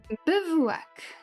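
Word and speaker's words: bivouac: Bevak.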